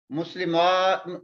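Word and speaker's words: مسلمات: So what we will learn here, in the pronunciation of a before the ta is lengthened. This a we make it long. Muslimat, this is muslimatun.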